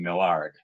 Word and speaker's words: Mallard: uh and uh she she did pronounce her name millard oh okay thank you